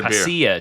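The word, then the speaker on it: pasilla: Here's what I'll tell you about the pacia chili.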